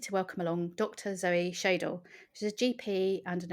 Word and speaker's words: Schaedel: I hope I pronounced your surname okay. I didn't check that beforehand. That's fine. Yeah, it's Schaedel.